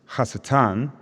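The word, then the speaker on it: הַשָּׂטָן: So, Satan, historically pronounced Hasatan, is not who we think he is, or his persona is not what we imagine.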